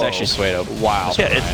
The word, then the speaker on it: pseudo: It's actually Suedo.